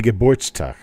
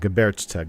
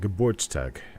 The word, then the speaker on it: Geburtstag: It'd be Geburtstag. Not Geburtstag, Geburtstag.